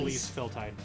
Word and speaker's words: Elise Feltide: Elise Elise. Feltide. Elise Feltide. Which, fun fact, it's a joke. My character is originally a cat girl. So it's Feltide like feline.